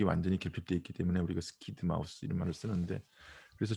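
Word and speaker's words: SCID: 결핍증, Severe Combined Immunodeficiency, 이렇게 해서 스키드라고 읽습니다. 스키드.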